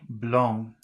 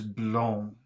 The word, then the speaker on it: blond: X word is b-l-o-n-d blonde so the first word is blong but the next word is blown a little bit different